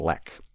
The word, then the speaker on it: lich: the dreaded lich, and in the parentheses it tries out different pronunciations of that word, including lech, lick, and lek. Monster, it can include. So it says, the dreaded lich monster. I believe it's lich.